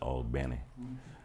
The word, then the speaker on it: Albany: albany new york but albany georgia or as the natives pronounce it all benny and that was another